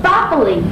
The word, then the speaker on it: farfalle: Farfalle. No, you pronounce it farfalle, like a bow tie.